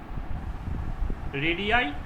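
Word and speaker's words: radii: Number 4 atomic রেডিয়াই, ionic রেডিয়াই। অনেকে রেডি বলে, রেডি বললে বানানটা আর এ ডিওয়াই হয়ে যায়, এখানে আমি আর ই এ ডিওয়াই হয়ে যায়।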